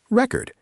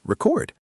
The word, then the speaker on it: record: If you stress the first syllable, it means a piece of music. Record. If you stress the second syllable, it means to write something down. Record.